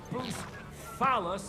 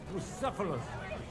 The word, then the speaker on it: Bucephalus: What kind of name is Bruce Phallus, anyway? It's pronounced Bucephalus.